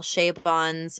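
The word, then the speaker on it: Chabon: this goes our second book here is michael shay bonds wonder boys and um yes you pronounce his last name shay bon i didn't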